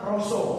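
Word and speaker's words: רשע: Dalam bahasa Ibraninya itu tulisannya si ra dan sa tapi bacanya roso.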